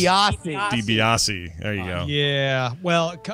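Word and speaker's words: DiBiase: the Million dooll Man Ted deice de base de beasi debiasi there you go yeah well combo of getting that wrong and correcting Scott's pronunciation loses you 15 points it I'm just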